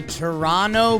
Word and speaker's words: Toronto: boogie down Bronx the Toronto Blue Jays don't pronounce that second T don't do it but they sweep the